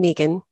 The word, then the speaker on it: Meagan: like you said I'm Megan pronounce it the long e I live in Dallas